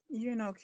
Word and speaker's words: eunuch: Somebody pronounce it for me. Eunuch, you're correct.